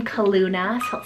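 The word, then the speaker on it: Calluna: the gods next one here is the name kaluna c-a-l-l-u-n-a this is so great if you want that nickname callie or nickname luna and kaluna is actually a floral name from the heather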